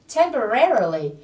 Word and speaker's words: temporarily: Again, temporarily. Từ này trọng âm rơi vào âm tiết thứ 3. Các bạn nhớ nhấn vào âm re ở âm tiết thứ 3 là temporarily.